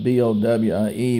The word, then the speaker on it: Bowie: In Georgia, we often call it Jim Bowie because like B-O-W-I-E, but actually it's pronounced Bowie.